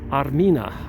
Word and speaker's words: Armina: Armenia used to be pronounced or said Armina. Armina is the ancient name for Armenia, and that's why many Armenian women are named at birth Armenia.